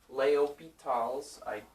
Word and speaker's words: L'Hospital: This says L'Hospital's rule, but it's French, so you pronounce it Leopital's. Something like that. Probably not that good because I don't speak French, but you know, something like Leopital's.